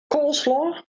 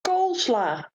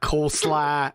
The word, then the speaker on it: coleslaw: Coleslaw. It's coleslaw. It's not coleslaw. It's coleslaw.